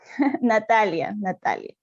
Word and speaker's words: Natalia: Por todo lo que acabas de explicar, Natalia, dime una cosa, ¿debo pronunciar Natalia o Natalie? Natalia. Qué bien, en español.